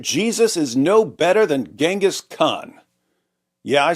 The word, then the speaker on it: Genghis: Bibi Netanyahu said that Jesus is no better than Genghis Khan. Yeah, I said Genghis, not Genghis. Why? Because I learned the correct pronunciation from the greatest history presentation of all time.